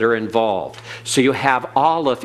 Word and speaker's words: Aleph: So you have Aleph is a silent, and it's called a guttural because there is no sound anywhere. The lips, the teeth, the palate are not involved in the pronunciation of Aleph. It is totally silent.